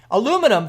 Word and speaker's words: aluminum: Aluminum for this guy. Or if you're in somewhere else, it's aluminium. Both are technically the proper pronunciation, depending on where you are in the world.